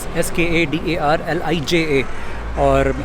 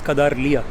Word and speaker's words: Skadarlija: S-K-A-D-A-R-L-I-J-A. You'd pronounce it as Skadarliya.